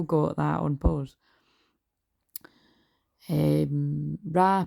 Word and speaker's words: Ra: that on pause um Rah pronounced Rah or Reay was the god of